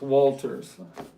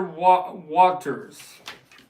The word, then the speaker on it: Waters: I'm thinking I'm saying his name wrong. It's not Waters. It's Walters. But boy, he's a character. Brad Pel said, "Oh, I'll let you. Go ahead." He said, "I Roger Waters."